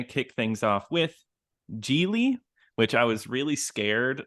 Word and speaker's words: Gigli: we are going to kick things off with gie which I was really scared I I was